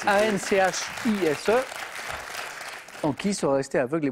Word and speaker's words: Anchise: Ça s'écrit A-N-C-H-I-S-E.